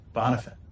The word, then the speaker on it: Bonifant: All right, we are out here at Argyle Country Club with Bonifant. Did I pronounce that right?